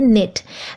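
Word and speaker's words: knit: की इंग्लिश है निट निट में स्पेलिंग है के एन आई टी लेकिन के साइलेंट है तो आप इसे बोलेंगे निट मैं स्वेटर बुन रही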